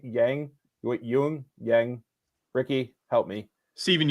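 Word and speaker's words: Yeun: do you say his last name y Yang Yung Yang Ricky help me Stephen Yun Yun yeah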